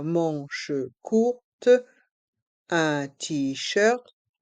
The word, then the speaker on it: manches: Un t-shirt à manches courtes. Un t-shirt à manches longues. Ici, le mot t-shirt se prononce comme en anglais. À manches courtes, les lettres A et N se prononcent en, manche, courte, à manches longues.